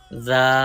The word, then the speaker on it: ذال: Do not read with whistle sound. And zal has soft letter. Read softly.